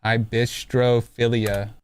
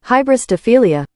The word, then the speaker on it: Hybristophilia: Hybistrophilia. Hybristophilia.